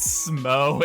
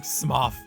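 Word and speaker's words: Smough: you guys really want please learn how to pronounce smoke and man i swear to god half my comments are just people making fun of me saying smuff smuff okay i get it it's it's pronounced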